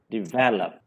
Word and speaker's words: develop: Stress on the first syllable, but actually it should be on the second syllable. It is develop. Am I correct, Saji? Yeah, you're correct. You're correct. So this is not develop, this is develop.